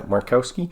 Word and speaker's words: Markowski: Yeah, Markowski.